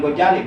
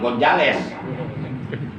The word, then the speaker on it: Ghazali: Beliau adalah Al-Alim, Al-Allamah, Al-Baqi, Al-Amil Al-Kamil Maulana As-Syekh Abu Hamid Muhammad bin Muhammad Al-Ghazali, yang masyhur disebut Imam Ghazali. Imam Ghazali, bukan Imam Gonzales.